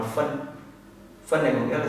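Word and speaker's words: 分: Cái này các bạn đọc là phân.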